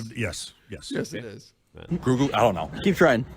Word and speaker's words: Grogu: This is his name wrong. Guru? Is it Guru? Garagu?